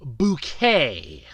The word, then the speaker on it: Bucket: He played the husband, Richard Bucket, or as his wife pronounced it on the show, Bouquet.